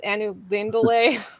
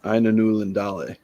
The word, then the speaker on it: Ainulindalë: always pronounced it uh Aina newlandale um I think I'm adding an n in there when I do that um yeah okay but